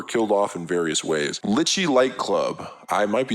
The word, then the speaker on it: Litchi: Litchi Light Club. I might be saying that wrong. This is a manga about a group It's pronounced lychee, like the nut.